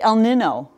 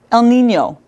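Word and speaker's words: El Niño: stress and some examples we don't say El Nino - the weather pattern El Nino and that's the same sound and sort of NY sound that you hear in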